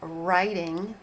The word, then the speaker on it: writing: And yes, there is a letter R at the beginning of writing, but there's a silent W in the beginning of that word.